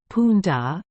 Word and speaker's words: Punda: it is spelled and the accent is always on the last syllable but one as Punda the donkey hamon Etc